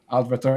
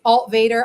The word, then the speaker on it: Altvater: It's Alt Vader. I just go by though so you just call me but but yeah it's like it's like Darth Vader.